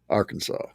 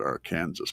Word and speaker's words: Arkansas: You have to pronounce Arkansas Arkansas.